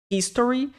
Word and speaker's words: history: nasals emergency consultation Medical History lse que o H em inglês tem som de R fraco Então quando vocês falarem Essa palavra não é Story Ok é esse aqui lá dos